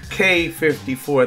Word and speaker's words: Quai: Paris corrected me and told me it's k54 so shout out to it was a bunch of people that corrected me shout out to everyone that corrected me k54 that's the right way to pronounce it but they have this